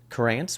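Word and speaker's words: Curanz: Corance, which is spelled C U R A N Z, is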